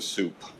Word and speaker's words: sup: We just call it the soup and it's pronounced like a bowl of soup.